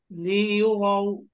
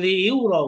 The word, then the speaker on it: ليروا: الناس الناس أشتاتا أشتاتا লিইউরাউ লি এবার ইয়া জম্মা ইউ ইউ ইউ না, তাহলে লিইউরাউ কে বলে লিইউরা না, বলতে হবে লিইউরাউ আমালাহুম।